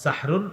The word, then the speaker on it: সাহরুন: সাহারি কি খাওয়া সাহারি এই সাহরুন এটা সুন্দরভাবে উচ্চারণ হবে হ্যাঁ সাহরুন সিন হা জবর সাহ র দুই পেশ রুন সাহরুন এটা হলো আমরা